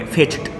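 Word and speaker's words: fetched: जो साउंड है ना सी एच का, वो च आ रहा है, तो इस ईडी का उच्चारण हम ट करेंगे, फेच्ड।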